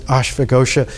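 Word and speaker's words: Ashvaghosha: named ashfa ghosha and in sanskrit when you pronounce it ashfagosha it literally means the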